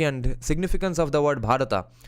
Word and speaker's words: Bharat: One more fact, 99% foreigners can't pronounce the H in Bharat. Yes, that's of course Bharat.